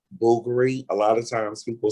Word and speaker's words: Bulgari: yeah yeah see a lot of people say bulgari that's not bulgaria it's boogery yeah so i i i i got corrected